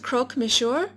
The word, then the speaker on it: croque monsieur: here it looks so good I believe it's pronounced croque monsieur so i'm going to show you everything you